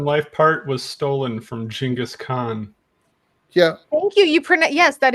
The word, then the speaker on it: Genghis Khan: Except for that best in life part was stolen from Genghis Khan. Yeah. Thank you. Yes, that is the correct pronunciation.